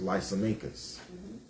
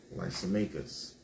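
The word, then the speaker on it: Lysimachus: The second one was Lysmakus. All right. Lysmakus. I'mma spell it out for y'all.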